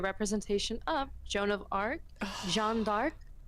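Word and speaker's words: Jeanne d'Arc: So, this is actually supposed to be a representation of Jon of Arc, Jean Dark. If you know, you know that's the pronunciation in French.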